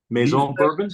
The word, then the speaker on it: Maison Bourbon: How do you say it, Barry? Maison Bourbon. Yeah, that's good. Yeah. Make some bourbon. Yeah. I didn't know if they used the French accent or not.